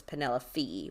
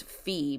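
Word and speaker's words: Penellaphe: I was going with I always just said Penelope because it's um spell poppy because Poppy is the nickname for Penelope but her name is spelled weird it's p n a l l a p h e so I guess it is fee because the pH but anyway so apparently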